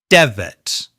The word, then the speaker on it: desert: Desert. We stress the first syllable and then use the weak uh vowel sound, the schwa, in the second syllable.